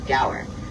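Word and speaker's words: gaur: In that huge pasture, we'll be on the lookout for some very large cow-like animals known as the Gower. And that's spelled G A U R in case you were curious.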